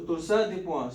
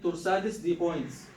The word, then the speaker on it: torsade de pointes: So torsade de pointes. So this is a twisting of the points. Some people read it torsades de pointes. Actually, it's a French word. So this is how to pronounce it.